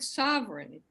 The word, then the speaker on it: sovereign: syllables but for example the word sovereign you can in the all the English authorities you can say Sovereign as two syllables or three syllables and there're big arguments